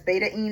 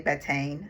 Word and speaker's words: betaine: Most people say betaine, but he says there's an alpha-ene and there's a beta-ene.